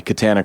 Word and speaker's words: Katana: katana the sword or is it like banana and she's like my family says banana the rest of the